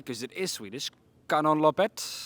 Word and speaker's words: Kanonloppet: Fredrik, we're part of, and I don't know if I'm going to pronounce this correctly because it is Swedish, Kanonloppet. Kanonloppet, Exactly.